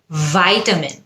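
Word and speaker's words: vitamin: ভিটামিন হলো British উচ্চারণ, you need to take some ভিটামিন C, British. ভাইটামিন, you need to take some ভাইটামিন সি, তখন হয়ে যায় ওটা আমেরিকান।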